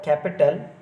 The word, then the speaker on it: capital: Here agreement, understand, entertain, the word capital has a stress on cap than the first syllable.